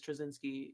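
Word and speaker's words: Trawczynski: i was like my director's last name is trezinski it's spelled t-r-a-w-c-z-y-n-s-k-i i can do this just tell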